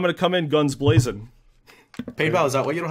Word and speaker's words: Painbow: Painbow, is that why you don't have a girlfriend? Did you call me Painbow? That's not important. That's what it sounds like. Painbow.